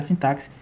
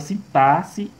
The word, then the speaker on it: sintaxe: e ortografia considera que a palavra sintaxe ela é pronunciada com o som de SS e não de KS.